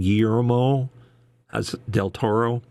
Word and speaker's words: Guillermo del Toro: Guillermo del Toro. How do you say his name? Guillermo del Toro.